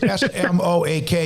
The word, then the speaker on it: Smoak: It's Smoak, but it's Smoak.